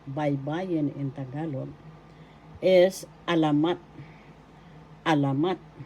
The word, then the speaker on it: alamat: Another form of Tagalog panitikan literature in Tagalog writing by Bayan in Tagalog is alamat. Alamat. First syllable a, second syllable la, third syllable mat. The third syllable has the accent alamat.